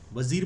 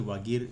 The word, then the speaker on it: वागीर: वजीर बोलते हैं, वैसे वागीर इसका वैसे प्रोनाउंसिएशन है।